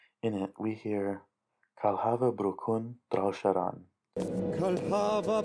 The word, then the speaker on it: bru'chun: ch sound, usually, but in here it makes more of a k sound, sort of like a K, but it's actually being pronounced like the h in lock.